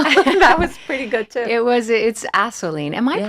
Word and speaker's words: Assouline: It's Assouline. Am I Yes. pronouncing that correctly? Assouline, yes.